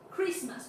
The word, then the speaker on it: Christmas: For the second, we are gonna pronounce Christmas without the sound of the T.